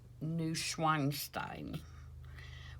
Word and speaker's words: Neuschwanstein: And I believe that it is pronounced Neuschwanstein, which is Mad Ludwig's swan song.